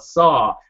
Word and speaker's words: Saul: was because I asked saw I said how do you pronounce your name and he says it's just like Paul it says saw that's how you pronounce